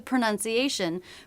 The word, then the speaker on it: pronunciation: Pronunciation is a noun, and sometimes people will mix up the pronunciation between this and the verb pronounce, pronun. So the second syllable should have the vowel and not the ow diphthong.